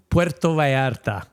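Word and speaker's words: Puerto Vallarta: I went to Puerto Varta. Okay, which is how they pronounce it uh in Spanish.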